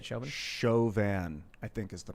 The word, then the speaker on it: Chauvin: the shavin trial shoving trials that you say chauvin i think is the pronunciation or chauvinism morgan byrne says the fur